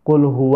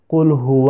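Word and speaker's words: قل هو: ini dengan keliru sahabat yang seharusnya ayat pertama itu di baca Qulhu allohu ahad Tapi sibuk ini malah membacanya kulhu allohu ahad sabbat kalau misalkan dibacanya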